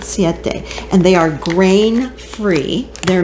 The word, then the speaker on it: Siete: So I have found a wonderful replacement, Siete. That's how you say it, Siete.